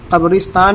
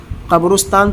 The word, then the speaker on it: قبرستان: یا 10واں لفظ ہے، بہت سے لوگ اس کو قبرستان پڑھتے ہیں را پر پیش، قبرستان تلفظ غلط ہے، اس کا صحیح تلفظ ہے قبرستان، قاف بازبر قبر را سین سے رس، قبرستان۔ تو دھیان رکھا جائے